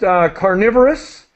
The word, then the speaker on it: carnivorous: Just carnivorous is the pronunciation, and herbivorous.